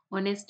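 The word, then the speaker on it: honest: और ऑनेस्ट में क्या है, ऑनेस्ट में क्या है, ऑनेस्ट में भी साइलेंट हो गया है।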